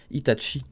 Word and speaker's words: Itachi: eu des hits hatchi et la raison ça s'écrit avec un cheese itachi alors que nous en france on a toujours